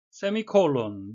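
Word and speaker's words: semicolon: 세미콜론, 미국식 발음은 세마이콜론이라고도 하는데요.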